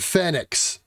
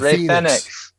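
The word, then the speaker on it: Fénix: gotta say it fast now we get fenix instead of thenx um we gotta pronounce it like the spanish do why correct us after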